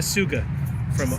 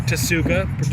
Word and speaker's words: Tsuga: I'm having a Suga or Tasuga, depending on how it may be pronounced, but it's Tsuga, so I'm going Suga. Like from Pueblo Vida. T is silent. It's like tsunami.